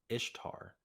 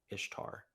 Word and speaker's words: Ishtar: called istar okay so it's pronounced like Easter kind of but it's pronounced ish Ishtar Ishtar um so it's pronounced